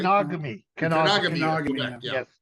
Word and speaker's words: Kenogami: And he's born in, tell me if I'm pronouncing it wrong, in Kangami, Quebec, right? Kenogami.